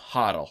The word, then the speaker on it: HODL: and today is going to be the term hotle which is spelled h o DL and it's actually sometimes